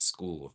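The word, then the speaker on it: Skool: That's my community over at School. School is spelled s k o o l.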